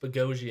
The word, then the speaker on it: Boghossian: dang he must okay his name was pronounced pagozi yeah it was just a mistake yeah it's just kind